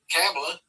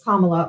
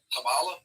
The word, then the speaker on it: Kamala: Well, her name first of all, her name is Kamla or you can just say Harris if you can't say her name properly. Um Kamala Kamala like a comma in a sentence.